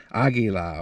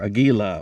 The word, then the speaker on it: Aguila: do the same thing with the aguila or aguila or aguila however you prefer to pronounce it so let me get